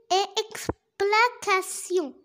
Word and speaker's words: explication: Alors, T-I-O-N se prononce sion. Sion. A, quand on met A devant C, C se prononce comme K. E se prononce comme E. Pourquoi? Parce qu'il y a devant E la lettre X.